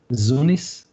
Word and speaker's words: Zunis: In parallel to that, we have Zunis and I pronounce it with Z, Zunis.